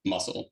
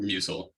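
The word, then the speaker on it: musl: glibc to build everything instead of muscle or mucil I still I'm never sure I'm pronouncing it right muscle I'm just going to commit to it Jason it is muscle I think okay excellent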